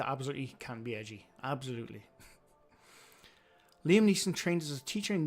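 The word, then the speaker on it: Liam Neeson: I remember when Liam said his be his name is pronounced Liam Niss, not Leslie N.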